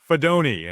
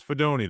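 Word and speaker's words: Fidone: Uh, in round seven pick 219, the Giants selected Nebraska tight end Thomas Fedoni. And it is Fedoni. That's how you pronounce this, not Fedon like we like we first thought.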